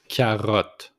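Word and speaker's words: carotte: tomat tomat a carrot exact same thing in French but with tea and and e at the end kot kot just put the accent on the r with the throat kot next one is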